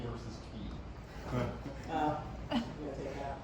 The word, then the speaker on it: Cay: The other question was, can you talk about the pronunciation of K versus Key? You want to take that? No. If you're Bahamian, it's always key.